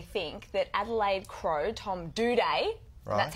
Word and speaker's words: Doedee: And that is, I actually think that Adelaide Crow, Tom Doedee, that's how you pronounce it, by the way, just in case you didn't know.